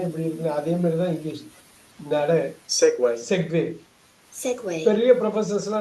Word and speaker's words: segue: Segway. செக்வே Segway. Segway. எங்க வே Segway. வந்திருக்குன்னு ஒரு மணி கேட்கலாம். அதுவா? இதுக்கெல்லாம் பதிலே கிடையாது. வாழ்க்கையில நிறைய கொஸ்டின்ஸுக்கு பதிலே இருக்காது. ஏன் இப்படி நடக்குது, ஏன் இப்படி இருக்குன்னு. அதே மாதிரிதான் இங்கிலீஷ். Segway.